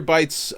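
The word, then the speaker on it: Bytes: those yes yes peter bites um with a uh that's spelled b-y-t-e-s uh you know like a like a like a megabyte exactly um so and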